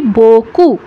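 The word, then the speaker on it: beaucoup: করছি না আমরা কিন্তু কি উচ্চারণ করছি আমরা উচ্চারণ করছি বকু বকু বিই এ ইউ ও ইউ পি উচ্চারণ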